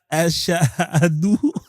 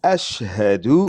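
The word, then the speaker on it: أشهد: Ashahadou. Tu prononces mal, tu es en enfer. C'est Ashhadu. Ashhadu. Non, Ashhadu.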